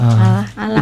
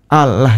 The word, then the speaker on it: Allah: Dia membaca ini secara letter tekstual Allah jadinya. Allah padahal pengejaan kesopanan kepada Tuhan itu L-nya jadi tipis. Iya. Kita menyebutnya Allah. Itu bukti kita sopan ya.